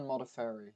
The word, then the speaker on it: Modafferi: She lost to how do you pronounce that? Modafferi. It's Roxanne Modafferi.